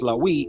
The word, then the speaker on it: Lawiy: And pronounced Lawiy in Ashuric Arabic, meaning joining, and Lawiy